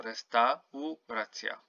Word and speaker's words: restauracja: So here you don't say restauracja like in English. You have to pronounce each and every vowel. So restauracja.